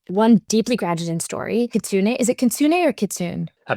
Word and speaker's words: Kitsune: I think it's Kitsune. It's it's a Japanese word which means folks basically and I think it's pronounced kitsune, but don't quote me on that. I may be wrong.